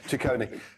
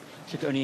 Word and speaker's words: Ciccone: Ciccone.